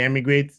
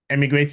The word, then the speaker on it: eMigr8: often please do the immigrate Visa app is on the App Store and Google Play Store immigrate is spelled Emig G with the